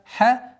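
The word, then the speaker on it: حدائق: Хадаика. Долгота в размере 4 огласовок, слитного, соединительной долготы. Хадаика. Обратите внимание, после долготы четкого произношения кесры. Ва а'наба.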